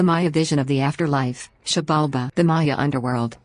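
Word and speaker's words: Xibalba: The Maya vision of the afterlife, Shabalba, the Maya underworld, Shabalba, pronounced Shibalba, was not a place of punishment like the modern western concept of hell.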